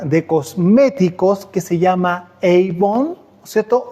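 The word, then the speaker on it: עוון: dice la palabra iniquidad en hebreo se dice Avon avón así se dice la palabra iniquidad en hebreo yo no sé si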